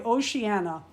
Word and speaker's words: Oceana: you think about my Oceana I that's how I'm going to say her name it's it's ocean with an a behind it to me that's oceanana she needs a surfboard now